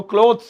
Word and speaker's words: clothes: इनकी प्रोनाउंसिएशन में भी हल्का फर्क है, ये क्लोथ है क्लोथ, ये क्लॉथ है क्लॉथ, वो क्लोथ्स है क्लोथ्स, ऐसे मतलब थोड़ा शायद